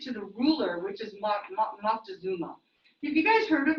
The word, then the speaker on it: Moctezuma: the ruler, which is Moctezuma. Have you guys heard of Moctezuma? Yeah, it's a different, slightly different pronunciation, but Montezuma.